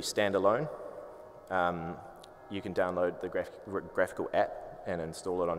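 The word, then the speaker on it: GraphiQL: Graphical, I think is how it's said.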